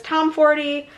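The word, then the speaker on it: Tomforde: Mile High by Liz Tom 40, which is I think how you say it. I've heard different variations, but I'm pretty sure that's how she introduced herself in a in an interview.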